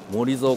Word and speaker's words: モリゾウ: そうですけれども読み方としてはえモゾコンセプトと読むそうですこちらのレクサス LBX